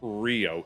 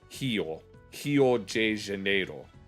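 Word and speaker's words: Rio de Janeiro: I know that within like Brazil it's not Rio, it's he janeed is how they say it. Yeah. I think I think the reason they pronounce it like that is similar to maybe like the uvular R in French.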